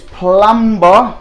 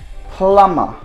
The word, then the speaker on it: plumber: this one singer again we call this plumb bar most of the time but this says you don't need to pronounce be both in American and British English so that should be sounding plumber no b/c don't get